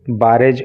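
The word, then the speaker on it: barrage: प्रारंभ कर दिया ए बारेज ऑफ gun fire, बारेज ऑफ gun fire का मतलब होता है गोलीबारी या फायरिंग, और वहाँ पे इन लोगों ने जो है, ये बराज होता है इसका pronunciation, बराज ऑफ gun fire,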